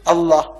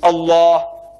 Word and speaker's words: Allah: It is not Allah, it's Allah. Not Allah, it's Allah. Say Allah. Allah.